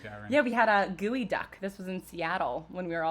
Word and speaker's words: geoduck: I don't know why it's called gooey duck, and it's spelled geoduck and pronounced gooey duck.